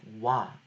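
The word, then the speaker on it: ㅘ: So we can see this example of wa. So wa is basically an a with an o syllable, or sorry, an o vowel placed behind it. So the o becomes a W when it is placed behind a vowel, so it becomes a wa sound, and same goes for the rest.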